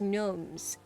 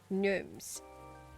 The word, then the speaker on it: gnomes: Oh, it's pronounced as gnomes. Gnomes.